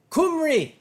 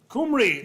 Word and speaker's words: Cymru: Cymru, Cymru, explain.